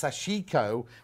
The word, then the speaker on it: sashiko: japanese and she says it's pronounced sashiko with three syllables in japan but we had this